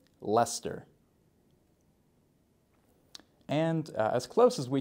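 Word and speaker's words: Leicester: on our list uh also similar to Worcester Gloucester here we have Lester you can almost try and imagine l s t r Lester and as close as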